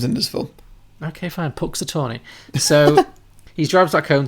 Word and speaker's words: Punxsutawney: Punxsutawney, okay. Did you say it like 2 million times in this film? Okay, fine. Punxsutawney.